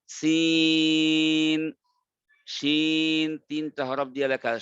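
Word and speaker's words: س: এরকম ভাবে সিন তিনটা হরফ দিয়ে লেখা, সিন ইয়া নুন, এটাকে চার আলিফ টানবেন, সিন।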